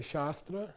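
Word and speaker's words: śāstra: these two okay but you're going to pronounce it correctly okay say shastra sh shastra shra so the spelling of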